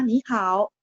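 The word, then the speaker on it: 你好: Di conversation pertama, ni hao. Jawabannya juga ni hao. Jadi ni-nya nada 2 bacanya, tapi tulisannya tetap nada 3 ya.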